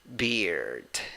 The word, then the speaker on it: beard: When you write it, you have 2 vowels, E and A. When you pronounce it, you only have a vowel, a weak I, but you pronounce it like bird. No, okay, but that sounds, sorry, I need more I. Here we go. Beard. Okay. That is the pronunciation. Okay, it is not schwa.